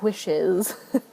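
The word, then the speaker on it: Whish: I left the three wishes I hate saying it like that but it's wish w-h-i-s-h and I pronounce that and w-i-s-h the same wish and wish uh but it's wishes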